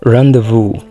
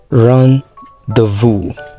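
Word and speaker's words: rendezvous: sounds like this often this is randevu so it sounds like this run the Vu this is sour not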